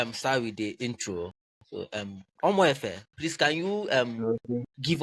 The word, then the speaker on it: Omoefe: Um Omoefe, I think is the name. Did I pronounce this correct? Mhm. Yeah, it's okay. Omoefe, it's Okay. correct. Okay. Omoefe.